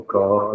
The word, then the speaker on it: Piancó: A cidade é Piancó, que se pronuncia, Paulo? Piancó, terrinha. Piancó.